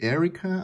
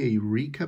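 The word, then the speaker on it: Eirika: leaf hey rika yeah i know some of you guys say erica i tend to say eureka because i'm i'm native spanish speaker so sometimes you'll hear me pronounce names differently so yeah it's i know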